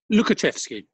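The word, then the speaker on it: Łukaszewski: wrong pablo lucas chefsky lukaczefsky i think is how we would um or how i've always said it um yes lovely piece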